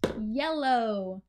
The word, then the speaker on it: yellow: the face yellow so notice in the ipa the sound is actually written as a j and then we have a short e e and then l o and then long oh oh yellow so we don't so